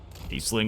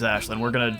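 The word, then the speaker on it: Aislinn: Aisling will have you all the way up forward. And now that I know his name's Ashlyn, it's gonna bother me that we're not pronouncing it correctly every single time.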